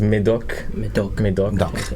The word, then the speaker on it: Médoc: 咁 Alex, can you teach us how to pronounce this region? Yes. Okay. So this one is Médoc.